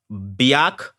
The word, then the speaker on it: Biak: It goes by common street names is Biak, not Biatch, Biak.